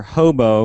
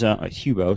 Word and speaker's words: Hubo: Drexel University's got their Hobo, which is Hubo. Sorry, mispronounced. It, which looks a lot like the robotic.